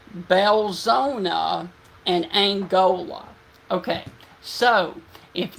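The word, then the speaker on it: Belzoni: okay okay let me correct myself it is pronounced belzona and Angola okay so if you guys are near the area of belzona Mississippi this is going to be coming towards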